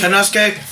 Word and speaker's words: Takeshita: Will Ospreay takes on Takeshita Takeshka. However you pronounce it. Takeshita.